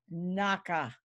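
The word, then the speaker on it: נקה: So that word innocent, in the Hebrew, it comes from a primitive root, and it's pronounced Naka.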